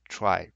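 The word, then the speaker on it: trie: we'll build a prefix try here sorry a prefix tree yeah so the prefix tree call also called a try so the pronunciation is a little bit weird so probably I'll just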